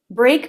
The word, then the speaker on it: break: lot of phrasal verbs break begins with the BR consonant cluster your tongue can be in position for the R or as you start the B the position for the R is front of tongue pulled back and up her lips flare or or or some language groups mix this up with the L bull bull where the tongue tip is here at the roof of the mouth all uh we want